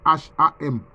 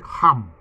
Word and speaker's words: Ham: est l'ancêtre des noirs quelquefois ça s'écrit en français Cham c'est Ham mais en fait ça se lit comme ça c'est en langue hébreu ça se dit rame ça se dit rame